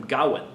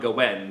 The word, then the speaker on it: Gawain: with some indication that there might be a stress on the second syllable gain when I first studied this poem in college my professor always called him Gowan but the more I